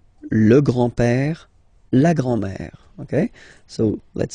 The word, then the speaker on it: grand-père: So, le grand-père, grandfather. Le grand-père. Remember, accent grave like that. It's this open père. Le grand-père. Le grand-père.